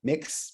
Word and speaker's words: Mx: people are using now called MX or mixer mix pronounce mix so if you are